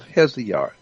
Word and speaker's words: Hesiod: today, the book is called The Theogony of Hesiod. The Theogony is Theogony, Theogony of Hesiod, which is spelled Hesiod.